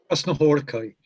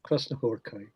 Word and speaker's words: Krasznahorkai: How do you pronounce this? Laszlo? Krasznahorkai. Laszlo Krasznahorkai.